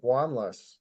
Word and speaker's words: Wanlass: have a a special guest today uh wanas am I saying your name right I